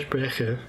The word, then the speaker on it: Sprecher: Sprecher, if we want to be strict about my German pronunciation.